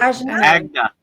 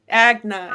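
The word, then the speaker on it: Ajna: I always pronounce the third I wrong. But Agna. Agna, yeah.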